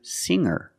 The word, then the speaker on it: singer: change sing to singer when I change these words with e i don't pronounce the G sound it's just the nasal M link together with the r together hanger hanger there's no G sound I cannot say hanger